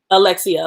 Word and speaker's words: Alexia: And I don't think Alexa, is her name Alexa? Am I saying it right? Alexia.